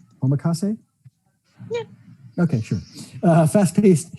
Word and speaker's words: omakase: to pronounce it incorrectly but tiffany's here to pronounce it correctly for me spring boot amakase omakase yeah okay sure uh fast-paced choice dive into